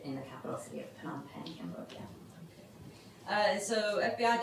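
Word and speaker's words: Phnom Penh: that for the sure it's p h n o m and the second word is pen p n took me a while to learn PanAm pen is the capital city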